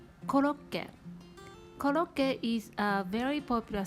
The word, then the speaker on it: コロッケ: making japanese curry croquette we pronounce it koloke koloke is a very